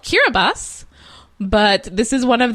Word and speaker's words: Kiribati: like you're a buddy did you find out why TI is pronounced s I do not know why TI is pronounced s I know why it's the place is called Kira bus but this is one